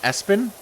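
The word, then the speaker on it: Espio: um it is ESPN it's pronounced as it's pronounced Espin as he goes by whiskers which is weird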